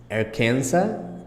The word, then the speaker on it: Arkansas: Illinois Indiana Iowa Kansas look here is interesting because Atkins Arkansas doesn't have the same it's it's written almost the same way but it's pronouncing differently here we pronounce Kansas but it's not our Kansas it's Arkansas I'll check later on